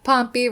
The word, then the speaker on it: Pompy: Pompy rhymes with Stompy.